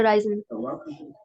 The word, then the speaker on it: reise: अब राइजन से राइजे, या जो obviously native pronunciation, that is राइजे।